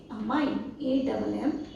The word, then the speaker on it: ammine: लेकिन अगर अमोनिया bracket के अंदर है तो आप उसे बोलेंगे अमाइन, AMMINE। जब हम अमाइन कंपाउंड्स को पढ़ते हैं तो हम स्पेलिंग में क्या लिखते हैं?